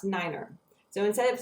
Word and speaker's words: nine: five is pronounced F the number nine is is pronounced Niner so instead of saying